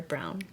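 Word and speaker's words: Braun: is here with me is that how you say it brown or brown yeah it's brown oh interesting I know it's it's this silly way that I always have to spell out no b-r-a-u-n German color brown a German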